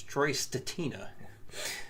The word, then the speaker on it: Stetina: And he's familiar with Troy's stuff, and he pronounces his last name Statina. I always pronounced it Stetina. So, but hey, he's in the industry, so I'm going to go with him. It's Troy Statina.